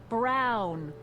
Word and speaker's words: Brown: bill to a T that's Emmett Brown rhymes with clown which I'm beginning to